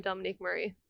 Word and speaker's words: Dominique Marie: exactly I thought I've been practicing how to pronounce that you don't need to just call me Dominique Murray that's it okay it's my stage I don't